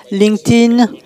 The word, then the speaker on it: LinkedIn: prononcer LinkedIn vous l'avez tout à fait bien prononcé très bien LinkedIn et monsieur est chargé de la création le